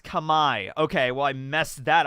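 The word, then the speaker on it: Khmer: cambodia might just be number 10 or number nine like as as that so starting it off strong with that um it's pronounced kamai okay well i messed that up at least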